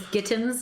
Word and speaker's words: Gittins: Hi, my man is Gittins. It rhymes with mittens.